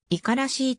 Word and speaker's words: 五十嵐: 一級河川信濃川の指示五十嵐ではなく以下らしいと発音する新潟県三条市